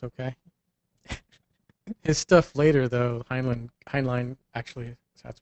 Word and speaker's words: Heinlein: His stuff later, though, Heinlein actually, that's pronounced, got very, very sick and twisted.